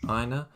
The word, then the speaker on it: Aina: It's just Aina. Aina, who plays left back.